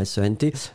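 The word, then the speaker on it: cent: pourrait être il sent, S-E-N-T. Mais là, donc, c'était uniquement sent. Hein. Donc le nombre, C-E-N-T, donc le T final n'est pas prononcé, sent, sent, sent.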